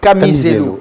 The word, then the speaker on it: Kamizelo: Camisello, ça n'a pas été facile de retrouver les noms. Je l'ai bien prononcé, Oui. Camisello. Exactement.